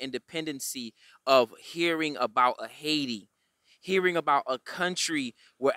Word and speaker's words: Haiti: place in the world called haiti or pronounced haitai where the africans rule themselves